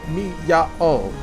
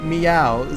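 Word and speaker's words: Miyao: So, the thing with Japanese vowels, you're supposed to pronounce them like mi-ya-o, but fast, but it ends up sounding like meow, so you can just say meow, but also like that's not the correct pronunciation technically.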